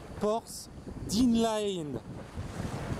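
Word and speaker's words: Porth Dinllaen: Alors j'essaye de vous prononcer le truc. Porth Dinlaen.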